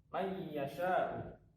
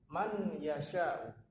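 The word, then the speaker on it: مَن يَشَاءُ: Maka cara membacanya, ini ada tasdidnya, may yasha'u, bukan man yasha'u.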